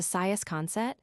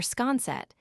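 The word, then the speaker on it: Siasconset: Therefore, I went to Saias concet or scanset as your true islander pronounces it, retaining all the kernel of the word.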